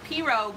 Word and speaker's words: pirogue: There's pirogue races, which a pirogue is a boat.